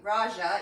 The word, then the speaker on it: Raga: The music playlist on Spotify, it's Raga, and it's Raja even, and it's spelled Raga, so that's on Spotify.